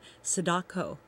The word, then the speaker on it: Sadako: um if you don't know about it uh Sadako is that how you say it yes yes